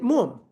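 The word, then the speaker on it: מאום: We read it mum. We don't read it mu'um.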